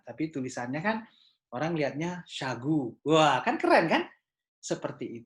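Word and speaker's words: Shagoo: S-A-nya saya ganti S-H-A. Jadi Syah, seolah-olah bacanya Syah. G-U-nya saya ganti dengan double O. Jadi G-O-O. Akhirnya saya bacanya Syagu.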